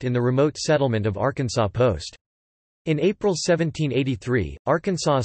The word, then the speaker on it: Arkansas: It should be pronounced in three syllables, with the final S silent, the A in each syllable with the Italian sound, and the accent on the first and last syllables.